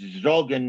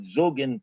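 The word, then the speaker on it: zogn: the three genders, plus a Litvish-based pronunciation, where it's Zogen, not Zugen, Purim, not Pirim, Wein, not Van.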